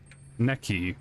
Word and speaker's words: Neki: Ni as in the part of the body, and the word ki or Neki. Neck and key. Neki. We'll go with Neki.